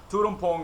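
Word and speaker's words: Tuol Tom Poung: Russian market to uh Tudum Pong is is like how you say it.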